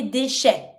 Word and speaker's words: déchets: Nous recyclons les déchets. Déchets. Can you see here the pronunciation and the difference between the two A sound? First one is the E with a high accent. It's the A sound.